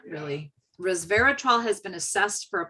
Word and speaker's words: resveratrol: but it's the how do you say it resveratrol was very tall does that make sense does that word sound familiar no but i wonder whether um grape juice has the same effect without the alcohol it's resveratrol i did say it right um it's a